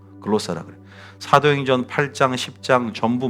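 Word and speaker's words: γλῶσσα: 다음에 글로사, 글라스 말이지 말고 오지 말고 글로사 하면 돼요.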